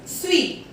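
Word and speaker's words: suis: S-U-I-S, sweet.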